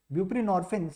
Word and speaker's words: buprenorphine: is opioid mu agonist buprenorphine see norphine rhyming with morphine it is a partial